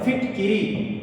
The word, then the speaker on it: फिटकरी: इसका शुद्ध रूप होता है फिटकरी।